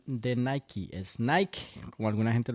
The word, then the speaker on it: Nike: Y la verdadera o la correcta pronunciación es Nike, porque como decía Joao, viene de la palabra Nike, que traducido viene siendo Nike. So, Mm. la pronunciación correcta no es Nike, es Nike. Yo cuando niño siempre decía Nike, Ujú.